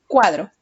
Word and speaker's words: cuadro: Cuadro. Cuadro. Separamos en sílabas. Cuadro. ¿Cuál es la sílaba que tiene la mayor fuerza de voz? Cuá. Cuadro. La sílaba que tiene la mayor fuerza de voz es cuá.